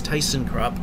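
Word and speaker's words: Thyssenkrupp: tyson krupp which yes there is an american pronunciation and it is tyson crop look it up if you don't believe it if you're an elevator geek and i don't use the more accepted german version because you know how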